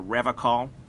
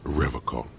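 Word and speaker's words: Revachol: I've been tempted on occasion, but someone has to stay strong for Revacol. He pronounces Revacol with a hard K, unlike other people.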